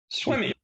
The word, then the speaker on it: Swimme: Swimme, it's spelled Swimme, like swim me, but swim. Swimme. Yeah. Swimmy.